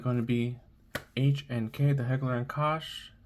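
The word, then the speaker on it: Heckler & Koch: And it's going to be HNK, the Heckler and Kosh. Heckler and Coke. I'm not sure how it's pronounced. I pronounce it Heckler and Kosh.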